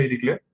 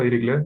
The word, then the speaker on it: Dirichlet: El objetivo de esta pregunta es resolver el problema de Dirichlet. Lo googleé y efectivamente se pronuncia Dirichlet, no Dirichlet.